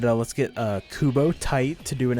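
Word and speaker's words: Tite: yeah also uh yeah his name is pronounced kubo tight tight yes i think he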